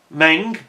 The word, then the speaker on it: Meng: Meng, or Mung as they are normally called in terms of correct pronunciation, they did a fine job with this kit, and it's really, really detailed and beautifully conceived.